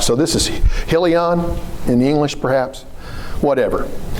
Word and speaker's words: Chilion: It probably has some sort of a guttural. Hebrew is guttural. The CH would be differently pronounced. It would be Chilion or something of that nature.